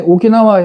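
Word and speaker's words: 沖縄: 그 다음에 오키나와 현은 충승이에요. 충승. 충자에다, 물레를 충자에다가 승은 아마 새끼승 같은데 충승현하고 오키나와라고 발음한다.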